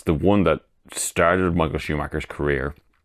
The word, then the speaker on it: Schumacher: Spa 91, I think he initially calls him Michael Schrodinger or Michael Shoemaker. He definitely says his name wrong.